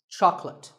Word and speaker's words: chocolate: this at the store make sure that there are only two syllables Chuck and and L chocolate and remember there's no late in chocolate speaking of chocolate how